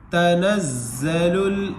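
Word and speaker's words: تَنَزَّلُ: هم یراؤون، آگے دیکھیں، تا زبر تا، نون زا زبر نز، زا زبر زا، تنزا، لام لام پیش لل، الف کو سائلنٹ کر کے لام میں ملا دیں گے، لام ساکنہ میں، لام لام پیش لل، تنزل، میم زبر ما، تنزل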